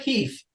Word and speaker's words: Keff: Did I say Keff? It's not Keff. It rhymes with chef. It's Keff.